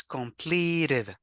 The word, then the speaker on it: completed: Yeah, and this is completed. Completed. Two different final pronunciations, yeah? Because this is with the, achieved, and this is with completed. Completed.